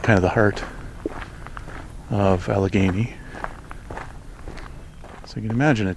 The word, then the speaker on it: Allegheny: I've only been to Algony once before. Or sorry, Alagany. I I've had to look up how that's pronounced exactly, but apparently Alageney is correct.